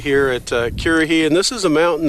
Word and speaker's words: Currahee: Currahee, I guess. No, it's Currahee.